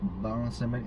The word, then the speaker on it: Baron Samedi: There is this lua called Baron Samedi. How do you say Baron that? Samedi. Baron Samedi.